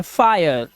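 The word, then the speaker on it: fire: आप देखिए जब किसी वर्ड में आई के बाद आर ई आ जाए तो आई का उच्चारण आय हो जाता है, आय, ठीक है। इसी तरह से ये है फायर, फायर, देखो वहां पे लिखा है ना आया आया आया, तो फायर। और इसी तरह से फायर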